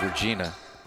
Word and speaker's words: Regina: Capital is Regina, or Regina. As that is dropped in by Zach Meyer. Pretty sure it was the latter of those two pronunciations.